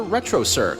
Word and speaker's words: Retrocirq: Look for them on YouTube under Retrocirq, spelt with a Q at the end. Retrocirq, where the Q is not quiet.